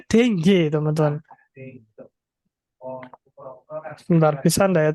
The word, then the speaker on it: dengue: Bacanya dengue, teman-teman.